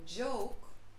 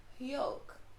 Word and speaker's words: joke: like a y sound so for a word like joke which starts with j j-o-k-e in english joke you might hear a spanish speaker say yolk you know did you